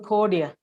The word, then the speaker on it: Chordia: And our speaker today is Professor Chordia, a professor in finance.